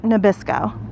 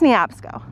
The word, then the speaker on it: Neabsco: I kind of want to call it Nabisco, but I think it's Neabsco.